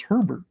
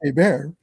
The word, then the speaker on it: Hébert: Well, Hébert is spelled Herbert, so it's Herbert, but it's pronounced Hébert.